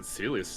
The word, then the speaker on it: Celes: It's always been Celius to me. I've always said Celeste.